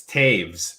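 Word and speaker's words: Toews: still impressed Scott that you knew how to pronounce his last name it's Taves and the only reason I know that is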